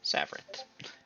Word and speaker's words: Savaret: __ ] it savaret there's supposed to be an eye in there but it it's silent okay and for those of you looking to spell that is s-a-v-r-e-t savart yeah she offers to